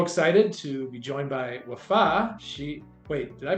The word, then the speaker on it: Wafaa: and we're so excited to be joined by wafa she wait did I pronounce that right that is correct yes all